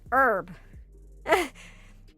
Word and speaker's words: herb: It's like, why does the US pronounce, why do we silence the H on herb?